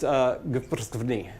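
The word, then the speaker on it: გვფრცქვნი: And the word is, as far as I know, it's pronounced gprsvni.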